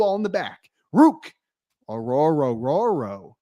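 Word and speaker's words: Orhorhoro: way people are are hating on The Rook aoro but that is how you pronounce Rook aoro that's how you pronounce it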